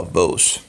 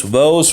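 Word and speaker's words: Woese: His name was Carl Vos or something like that, Vos or whatever, Vos. Rhymes with Rose, Vos Rose, I guess.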